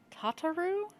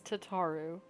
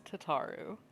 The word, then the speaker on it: Tataru: a while apparently because kataru it's tataru like I promise you that's how they pronounce it later in the game it's tataru please to make your